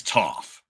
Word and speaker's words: Toph: his Avatar debut as Toof rhymes with tough uh I I something